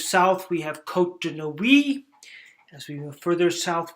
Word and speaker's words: Nuits: And here you can see Chablis, Nuits, Mâconnais, you don't say the S, but you put the E at the end, Chalonnaise, and the S gets pronounced.